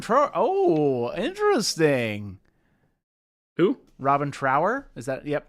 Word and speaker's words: Trower: oh interesting who Robin Trower is that yep Trower right that's how he pronounced that correct t r o w r do I know this